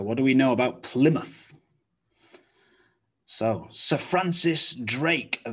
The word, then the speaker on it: Plymouth: we check all right plymouth plymouth so the m-o-u-t-h sound looks like and sounds like mouth but in a town name it's reduced down to muth muth so what do we know about plymouth so sir francis drake